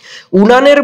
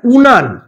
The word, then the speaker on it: উনান: ঘটনা ঘটেছে জানতে চাইছে উনানের মুখে ফু দিয়ে হরিদা বলল যে সে কিছুই জানেনি। আচ্ছা উনান এই শব্দটাকে আমরা কিভাবে উচ্চারণ করি বলতো? উনুন ভেরি গুড। এটাকে আমরা উচ্চারণ করি উনুন বলে।